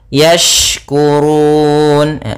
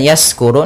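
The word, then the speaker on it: يشكرون: Yashkurun, yashkurun. Kemudian hati-hati dalam pelafalan shin, jangan sampai terdengar dengan sin. Apabila membacanya yaskuru, nanti maknanya berubah.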